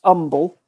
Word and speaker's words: Humble: It's spelt humble, but it's pronounced umble.